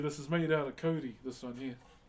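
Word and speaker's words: kauri: Wait, this is made out of Cody. This one here. K A U R I is how you spell it.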